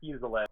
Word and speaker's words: Fuselier: Is it Fuselier? Is that the name you go by, or? Well, it's pronounced Fuselier, but you could just call me Fuse because I know it's a little easier.